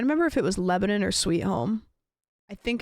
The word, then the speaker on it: Lebanon: But there's Lebanon, Oregon. Yeah. Not Lebanon. Lebanon, which I maybe at one point, but it's Lebanon, but you say it like you're trying to mush all the letters together.